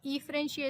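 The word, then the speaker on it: efferentia: एफरेंशिया वो होता, और अगर ये बाहर जा रहा है तो इसको बोलेंगे हम वासा एफरेंशिया, ईफ्रेंशिया बेसिकली। ईफ्रेंशिया इसको प्रोनाउंस करेंगे।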